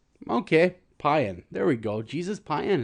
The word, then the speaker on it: Payan: Payan? Payan. It's like Mayan, but with a P. Okay, Payan.